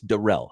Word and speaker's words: Darrell: see that but I do see the production pronunciation on his name it's not Daryl it's Darrell so Darrell luter is is the the proper